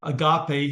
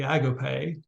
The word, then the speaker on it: agape: love that we cannot understand we call it Agape here in the South but the correct pronunciation is actually Agape it's a love that has no bounds it's